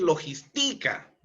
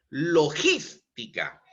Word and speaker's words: logística: palabras esdrújulas se tildan logística lítica no es logistica no ni logistica sio es logística es una palabra esdrújula